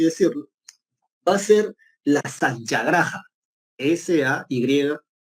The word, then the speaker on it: satyagraha: Una cosa así que él lo que promulgaba, predicaba, por así decirlo, va a ser la satyagraha. S-A-Y, y al final va con H, ¿ya? Satyagraha. Bueno, así se escribe, ¿ya?